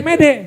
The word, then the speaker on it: mete: Tulisan mete. Met. Mete kan bacanya mede.